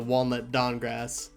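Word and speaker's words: Walnut Dankgrass: team this is playa one of the characters name is a walnut don grass but it's spelled dank grass because it's a weed joke so there we go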